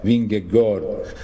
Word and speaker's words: Vingegaard: Vingegaard, esatto. Cioè, anzi, loro, per dire la verità, la pronuncia è Vingegaard, però sì, Noi diciamo all'italiana.